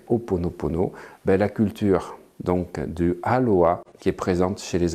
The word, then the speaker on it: aloha: Aloha les amis. Alo, oha, ra. Voilà les 3 syllabes que l'on retrouve dans le mot aloha et qui est très important de bien assimiler.